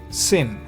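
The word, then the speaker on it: שׂ: But if the dot is on the left, then you pronounce it like sic set sin.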